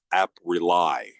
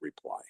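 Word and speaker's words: Apprely: how can we help app rely not reply you said it right so uh this is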